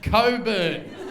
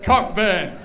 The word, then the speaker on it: Cockburn: I said it's pronounced cockburn and where I come from we call that thrush and and then he said the CK is silent and I said look